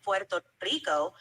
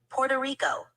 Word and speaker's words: Puerto Rico: Puerto Rico I said Puerto Rico with a bit of a Spanish pronunciation to reflect how it's pronounced in its native language but I can also